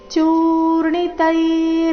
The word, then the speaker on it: ಚೂರ್ಣಿತೈ: ತೆ ದೀರ್ಘ ಸನ್ ದೃಶ್ಯಂತೆ ಚೂರ್ಣಿ ಚೂ ದೀರ್ಘ ಚೂರ್ಣಿತೈ ವೃತ್ತಮಾಂಗೈಹಿ ಚೂರ್ಣಿ ತೈ ವೃತ್ತ